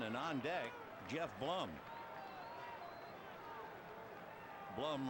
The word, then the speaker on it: Blum: Blum rhymes with glum.